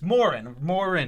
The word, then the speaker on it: Morin: It looks like Moron, but it's Morin. Moran.